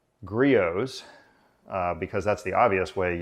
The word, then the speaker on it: Griot's: it weighs at least 10 pounds it's actually pronounced gree oohs because that's the obvious way you would pronounce